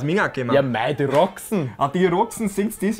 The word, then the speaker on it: Roxen: Für Rumänien tritt Roxen an. Ich glaube, sie wird so ausgesprochen. Die Roxen, die können aus Minga kommen. Ja, mei, die Roxen.